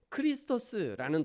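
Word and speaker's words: Χριστός: 그리스도라는 이 단어는 크리스토스라는 단어인데 구원자 이런 의미가 있습니다.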